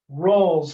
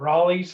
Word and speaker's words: Rolle: of them today but this one's called rolls theorem i've also heard it called raleigh's theorem and it probably goes by lots of different names or lots of different pronunciations i should say but i call it rolls theorem um i believe that this is named after a french mathematician so it's probably more like royale's theorem or something like that but uh